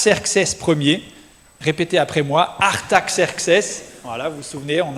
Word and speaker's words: Artaxerxes: Artaxerxes. Voilà, vous vous souvenez, on avait appris à le prononcer mais c'est pas là l'important hein.